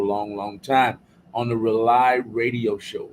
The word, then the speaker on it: Rauli: On the Rely Radio Show. Rely is spelled RAULI. It stands for rebooting and uniting lost energies.